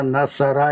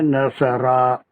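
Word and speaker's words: نَصَرَ: और यहाँ थोड़ा सा रे को खींचना है, नसरा, बहुत ज्यादा नहीं। अलिफ लाम मीम की तरह नहीं, नसरा नसरा। प्रोनाउंसिएशन में थोड़ा सा खींचना, नसरा, जस्ट द साउंड ऑफ ए जबर।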